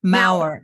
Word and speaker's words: Maurer: Maurer, M-A-U-E-R.